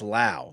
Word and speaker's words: Lowe: Because it's spelled Lowe, but it's Lao.